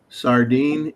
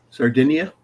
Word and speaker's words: Sardinia: a western whip snake in the island of uh Sardine, Italy. Yes. Hope I pronounced that right. Sardinia.